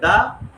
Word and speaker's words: the: Consonant থাকে তাহলে হবে দা, আর টিএইচই এর পরের ওয়ার্ডের প্রথম অক্ষরটা যদি ভাওয়েল থাকে তাহলে উক্ত টিএইচই এর উচ্চারণ হবে দি।